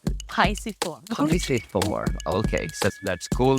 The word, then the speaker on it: pisiform: Pisiformis, piriformis, not pyriformis. Because it's Latin, so it should be pisiform. Yeah. Yes, we're here, so it's pisiform. I just came from a training in England, so it's pisiform.